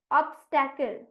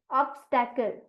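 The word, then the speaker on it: obstacle: होता है अब right answer is option C ऑब्स्ट कल ऑब्स्ट कल पी आर ओ जी आर ई डबल एस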